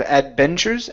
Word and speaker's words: adventures: uh the word Adventures give me a good V sound there instead of Adventures Adventures Adventures okay very nice and